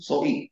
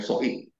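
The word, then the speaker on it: ζωή: hidup dari hidup Ilahi Zoi atau Zoe kita biasa bacanya bacanya sebetulnya soid Taurat tidak bisa melakukan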